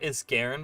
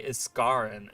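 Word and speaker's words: Isgarren: the former home of is God it's not is Garen by the way I mispronounced it I didn't know it's never been actually pronounced in game um but they now say escaren is the name it's not a scaron it's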